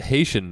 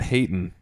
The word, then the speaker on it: Haitian: pronounced Haitian, not Hayton.